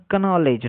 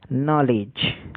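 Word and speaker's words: knowledge: ই ডি জি ই, এর উচ্চারণ কনলেজ নয়, এর উচ্চারণ নলেজ। আমি একটি ভিডিও দেখেছিলাম এর আগে, সম্ভবত বিহার বা উত্তরপ্রদেশ এইসব জায়গায় একটি প্রাইমারি টিচার এই শব্দগুলোকে পড়াচ্ছিলেন, কানাউলেজি উচ্চারণ করেছিলেন তিনি, এবং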